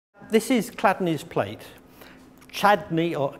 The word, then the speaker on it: Chladni: this is clad plate chadney or clad is spelled c h l a d n i and I think it's cadney well if I put